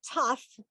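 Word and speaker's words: ת: This letter is the tough. And in both cases, whether there is a dot or there isn't a dot, it's pronounced like a T.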